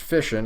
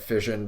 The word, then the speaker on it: fission: understand why it's pronounced fishin it's because it sounds like words such as mission and passion so I can see